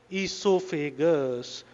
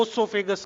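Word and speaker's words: oesophagus: है ये, क्या ये ईसोफेगस, कुछ बच्चे इसको ओसोफेगस कहते हैं, ओसोफेगस नहीं कहना इसको, उसका ओ जो है वो साइलेंट है।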